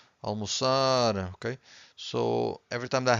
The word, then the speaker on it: almoçar: Every time you have a word that ends with an R, you stress the final syllable, okay?